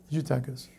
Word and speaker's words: Eutychus: Eutychus.